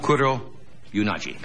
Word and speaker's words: Kuroyanagi: She is with us tonight, and I hope I pronounce her name right. Her name is Tetsuko Kuroyanagi. Yonagi. What? Yonagi. Yonagi. Yes. Yonagi. Kuro Yonagi.